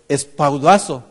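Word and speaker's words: σπουδάζω: Me sonaba muy familiar porque estudiando la palabra solícito, dice que en su pronunciación en el griego es espaudazo. ¿A qué le suena eso? Como un espadazo, ¿verdad?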